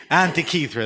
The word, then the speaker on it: Antica: Antica. Nobody knows how to pronounce it. I didn't know how to pronounce it. It's I heard you say it Antica. differently. Antica, that was it.